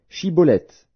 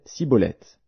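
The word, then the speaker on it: Shibboleth: Il lui disait alors, Eh bien, dis Shiboleth. et il disait Siboleth, car il ne pouvait pas bien prononcer.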